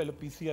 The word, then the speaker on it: alopecia: Google करते हैं ना, तो मेरे अंग्रेजी में स्पेलिंग है ALOPECIA, एलोपेशिया है। मगर बहुत सारे जो लोग जरा एंग्लिसाइज, वो एलोपेशिया भी कहते हैं, मगर एलोपेशिया है ये, ठीक है।